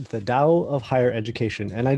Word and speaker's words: Tao: perfectly into english so the older way that it was written was with t and the newer way that it's written is with a d and it's pronounced dao and it's something kind